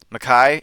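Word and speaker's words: Mekhi: You have I know Becton, but like I can never pronounce that name right. Mackay.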